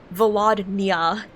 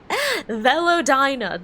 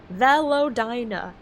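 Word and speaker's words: Velodyna: For some reason, I keep on switching the N and the Y in this, so I keep on just reading it as Velodnia, like nya at the end. Velodina, there we go. Velodina. It has 4 syllables, not 3.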